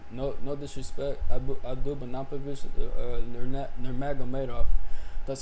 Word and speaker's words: Nurmagomedov: No disrespect, Abdul Banapovich, Nurmagomedov.